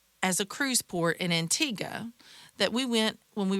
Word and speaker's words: Antigua: So, a lot of you when you have heard of this island, you may have heard it pronounced Antigua.